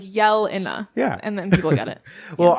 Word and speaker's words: Jelena: you up even more I just like to say it's Jelena like you're yelling like Jelena yeah and then it